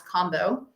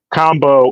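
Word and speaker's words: Kambo: Ivan um I've had it's spelled k MBO I'm pretty sure the pronunciation is combo uh if you guys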